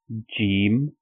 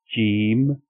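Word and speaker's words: ج: The first one, it has 1 dot at the bottom or in the middle, and it is called Jeem. Jeem.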